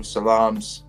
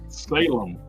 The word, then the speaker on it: Salem: know Jason Booth says anyone seen the new salam's lot film on Max Matt have you seen